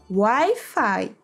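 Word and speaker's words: Wi-Fi: mais I fica I mas aqui se pronuncia WiFi porque é uma palavra em inglês w mais o fica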